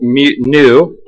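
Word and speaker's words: ν: So Poisson's ratio, by definition, we use the symbol nu, N-U, pronounced N-E-W.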